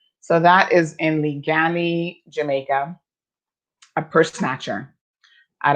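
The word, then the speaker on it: Liguanea: Evelyn has just told me how it's properly pronounced. So that is in Ligani, Jamaica, a purse snatcher at a plaza in St.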